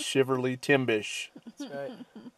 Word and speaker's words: Shiverly Timbish: me timbers hey but apparently it's I've been saying it wrong all these years it's shiver Li Tim bish so anyway that's the